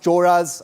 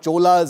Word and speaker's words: Cholas: And I know that it's pronounced Choras and not Cholas, as some people continue to pronounce it.